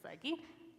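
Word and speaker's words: ψυχή: And it's suke, as Amos pronounces it. I would read it psyche, because it looks like psyche. And I'm the speech pathologist, so I'm going with psyche.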